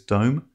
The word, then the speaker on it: DOM: certainly trade using the Dom this stands for depth of market some people pronounce this dome and others refer to